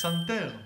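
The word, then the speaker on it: פסנתר: Psanter. Speaking of clusters, we got our first one here. Psan. Psan. You gotta say the P.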